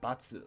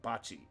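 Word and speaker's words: 罰: Basuru, batsu, or bachi are our pronunciations for penalty and punishment. Radicals in this kanji are net, a word or a saying, and a knife or a sword.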